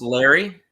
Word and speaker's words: Leri: And is it pronounced Larry? Yeah, it's just Larry.